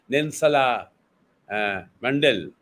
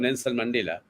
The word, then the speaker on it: Nelson Mandela: You see, and if we mispronounce them, if we start saying Nensala Mandal, if you say instead of Nelson Mandela, so every African will be quite upset about it.